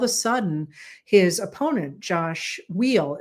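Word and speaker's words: Weil: And all of a sudden, his opponent Josh Wheel, it looks like it should be while, but it's pronounced wheel.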